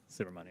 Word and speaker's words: Subramanyam: I will hopefully be able to correctly pronounce this by the end of the 119th Congress, but Mr. Subramanyam. Yeah, Subramanyam.